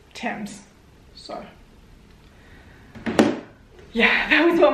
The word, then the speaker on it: Thames: Is that how it's said? Thames? Thames. Sorry, England. Thames. All right, according to this, it says Thames.